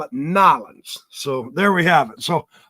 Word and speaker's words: New Orleans: You do not pronounce it New Orleans. That's how you do it in the West. When you're down there, you got to call it what it is. It's Nolans.